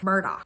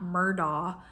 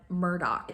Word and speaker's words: Murdaugh: her it's pronounced elik Murdoch I think I'm saying that right so not Alex but elec and not murder but Murdoch I guess it's some local accent thing I know it sounds